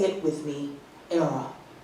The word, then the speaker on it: Airea: Era rhymes with Sarah.